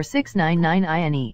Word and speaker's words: 6ix9ine: Daniel Hernandez, born May 8, 1996, known professionally as Tekashi 6ix9ine or 6ix9ine, pronounced 6ix9ine, is an American rapper.